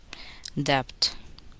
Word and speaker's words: debt: B is silent in the following words. Listen and repeat each word after the speaker. Debt, doubt, lamp, camp, thump, wump, subtle, soponia.